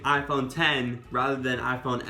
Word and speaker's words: iPhone X: Yes, I know you pronounce it the 10, but saying iPhone X just sounds so much better. Just think about me saying iPhone 10 rather than iPhone X.